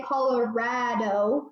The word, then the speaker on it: Colorado: how to say Colorado you say Colorado like rad if anybody say Colorado